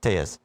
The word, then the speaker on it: Telles: I didn't know if Tejas was how do you say his last name? Tejas. Tejas. Telles. Yes.